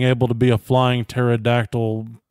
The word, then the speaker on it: pterodactyl: to be a flying pterodactyl dinosaur what yeah silent p it was is a